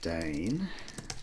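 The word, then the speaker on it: deign: you Dane deig n you say that out loud you spell it differently d a n e as in we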